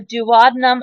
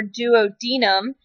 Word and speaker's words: duodenum: then this is that first segment called the duodenum or duodenum, depending on how you would like to pronounce it.